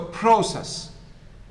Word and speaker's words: process: If it's the first syllable, it is process.